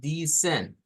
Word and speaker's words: descend: Entonces es descend, disciple. Entonces hay que tener cuidado con esas dos pronunciaciones, de hacerlas como I corta, di, I corta.